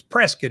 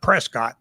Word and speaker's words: Prescott: It's got 14,000 views, and everybody's like, it's Prescott. It's not Prescott.